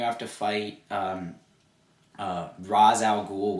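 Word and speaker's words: Ra's al Ghul: to fight um uh raz al ghoul which is pronounced also ray shall go just so i don't get that wrong because in this game it is called racial ghoul and instead of the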